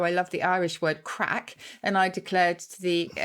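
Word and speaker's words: craic: Well, I've done that before, where I've talked about how I love the Irish word crack.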